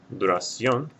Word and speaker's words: duración: Duración will have an accent mark over the O because the stress is over the last syllable and it ends in a vowel N or S.